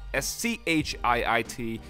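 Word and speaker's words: Schiit: and amp and yes their company's called schi t pronounced as I said it and his speaker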